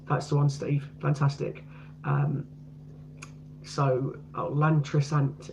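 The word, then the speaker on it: Llantrisant: Lantrisant is how you pronounce it.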